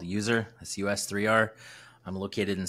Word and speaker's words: US3R: Christian uh I'm an electronic rock artist called user that's us3r I'm located in Seattle Washington and uh I'm a tech dork during the day and a musician at night so it is pronounced user I was guessing when I first saw you